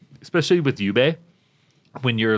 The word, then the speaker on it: Jubei: Plus it was like especially with Yubei when you're like or Jubei. Do you pronounce it J or Y? If you play should be- Onimusha, it's Jubei.